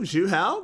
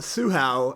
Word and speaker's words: Zhu Hao: Ooh, Zhu Hao goes over the wall, or Su Hao, as we've been told to call it. Apparently we've been pronouncing it wrong.